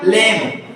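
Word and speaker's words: lamb: म क्या हो गया लेम ब पढ़ेंगे क्योंकि बी को आपको नहीं पढ़ना है समझ में आया बी क्या है साइलेंट तो इसको हम क्या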